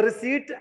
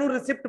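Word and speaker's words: receipt: तो रिसीट एनू जे मैं कई हो सकता है रिसिप्ट पढ़ते हो, ठीक है, एनू रिसिप्ट नहीं पढ़ना। This word is pronounced as रिसीट, रिसीट एनू बोलना, ठीक है, रिसीट नॉट रिसिप्ट, रिसीट है ये। हो सकता है किसी स्पेलिंग इधर उधर हो गए हूं, लेकिन पी साइलेंट है, रिसीट बोलांगे।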